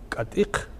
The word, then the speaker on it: Катик: Допустим, Катик и Мацих, населенные пункты в той же зоне, произносится как Китик Мицих сейчас. Ну, хотя это изначально Катик Мацих.